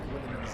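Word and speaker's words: Guilliman: What in Gwilliman's name is that? Nothing. Did you hear it? Gwilliman! That's how you pronounce it!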